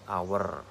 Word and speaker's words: hour: Artikel an dipilih karena dalam pengucapan kata hour itu diawali dengan huruf vokal hour, kan depannya vokal gitu.